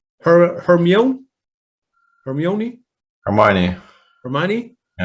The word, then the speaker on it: Hermione: chon is saying with her how do you pronounce her hermione hermione hermione hermione with hermione still um